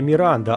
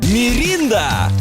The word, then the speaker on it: Міранда: Міранда і прошу зазначити на правильній вимові Міранда а не мінда Міранда - це найближчий